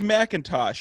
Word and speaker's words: McIntosh: And it is Macintosh. If I say it like that, that's pretty right.